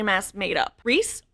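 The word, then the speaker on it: Rhys: Reys, RH YS, is a popular name in America. No. In the UK, yeah. And I think that's why I knew how to pronounce it correctly. If anyone ever says Ryan around me, just know you will face my wrath.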